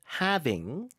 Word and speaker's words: halving: and the upcoming Bitcoin halving. halving이지만 L 발음이 묵음입니다. 그래서 미국 발음도 having, 그쵸. 영국 발음은요. halving. 네. 이것도 L 발음이 거의 없네요.